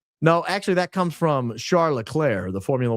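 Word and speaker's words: Charles Leclerc: Some of the teams uh are British and don't refer to the uh French pronunciation oflair and they call him Charles L Clerk instead of Charlotte. And so I have to stop myself all the time from calling him Charles Clerk.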